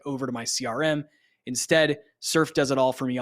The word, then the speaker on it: Surfe: The tool is called Surf, and it's spelled SURFE.